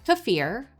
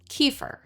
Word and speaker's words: kefir: The two most common variations are kafir, the traditional pronunciation, and kefir, the American pronunciation.